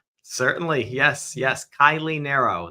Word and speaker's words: Kiley Naro: Kylie Nero. That's how I pronounce my name.